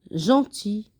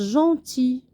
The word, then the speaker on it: gentil: Alors, par exemple, G doux, gentil. Alors, G avec E se lit je. Mais ici, on a G avec le son on. Alors, je prononce gentil.